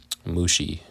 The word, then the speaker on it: Mushi: The clans descended from Merari were named after 2 of his descendants, Mali and Mushi. Rhymes with sushi.